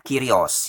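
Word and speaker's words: κύριος: Jadi bahasa aslinya yaitu bahasa Greka atau bahasa Yunani, tertulisnya Kyrios, bacanya Kyrios ya.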